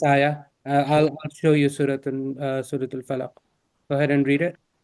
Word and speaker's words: الفلق: When stopping at a word or at the end of an ayah where there is an auditory sukoon and the word ends with a bouncing letter, either a qaf, ba, da, jim, or dal, that letter is pronounced with a bouncing sound having 2 syllables.